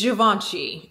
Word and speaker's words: Givenchy: How do you pronounce? Okay, you guys, I looked it up and it's Givenchy.